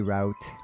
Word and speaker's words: route: But some of them, they're like root and route. I say root, I don't say route.